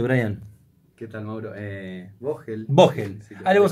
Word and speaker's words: Vogel: ¿Cómo lo pronuncio, Brian? ¿Qué tal, Mauro? Vogel.